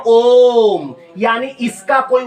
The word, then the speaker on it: ओम: एक ओम ऐसे लिखा जाता है, इसको लोग स्टाइल में ओइम बोल देते हैं। ये ओइम नहीं है, ये है ओम, यानी इसका कोई उच्चारण नहीं होता, इसीलिए इसको लुप्ताकार कहते हैं।